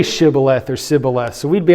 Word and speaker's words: shibboleth: So these poor Ephraimites couldn't pronounce sh, they had to say sa instead.